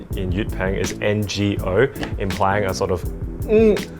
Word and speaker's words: 我: And it's a very simple word to remember because it sounds like oh. It's literally just like oh. And you'll hear a lot of native speakers, even though the pronunciation in Yutpeng is NGO, implying a sort of sound before the O.